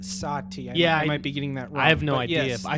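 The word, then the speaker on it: Satie: theatre of the absurd is last name SI TI e yes Oh today but according to wikipedia is pronounced satya yeah I beginning that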